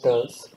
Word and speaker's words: TERLS: So initially, we were only launching the sounding rockets from what was then called TERLS, that is TERLS, pronounced TERLS, or called Tumba Equatorial Rocket Launch Station.